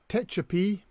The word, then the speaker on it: Tehachapi: I've been asked to explain the word or to pronounce the words. It's Tucson, obviously, Tucumcari, Techepi, and Tonopah.